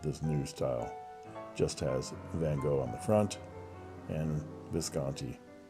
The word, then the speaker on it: van Gogh: the painting by Vincent van Gogh or about hull as you're supposed to say it properly and there is the